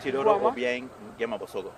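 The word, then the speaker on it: Teodoro Obiang Nguema Mbasogo: Teodoro Obiang Nguema Bosogo.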